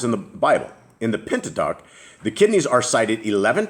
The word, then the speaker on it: Pentateuch: Pentateuch.